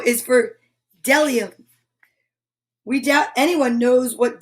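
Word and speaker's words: bdellium: b o is for dellium we doubt anyone knows what dellium is but it's the only word dumb enough to begin with a silent b dellium now let's just check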